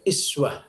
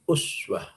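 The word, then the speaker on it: أسوة: Ya, biasanya sering dibaca juga iswah, ya. Sebetulnya itu juga qiraatul jumhur, ya, seluruh para ulama qurra membacanya dengan iswah, ya. Tapi kita lebih memilih uswah, ya.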